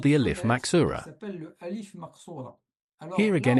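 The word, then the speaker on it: ألف مقصورة: what we call the al if maxura. So it's pronounced exactly like an al if that is it's a long vowel. Let's say aa.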